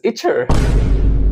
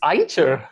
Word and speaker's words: Eicher: c he e r it is pronounced as IA really I thought it was iter it's ier okay that's quite a